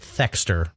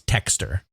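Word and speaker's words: Thexder: we'd probably pronounce it thxer but with the way the Japanese pronounced it it's texture this game actually made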